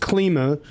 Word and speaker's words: Klima: So, uh you it it's pronounced KLMA.